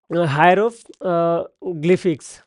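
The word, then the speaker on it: hieroglyphics: আসলে বলা হয় হচ্ছে হায়রো গ্লিফিক্স ওকে হায়রোগ্লিফিক্স এটার উচ্চারণ এরকম হয় হায়রোগ্লিফ এই নাম্বার এই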